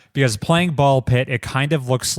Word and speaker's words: Ball x Pit: I'm playing some ball pit. Ball pit, which if anyone is trying to search for this game, it is spelled ball x pit, right? But the X is silent.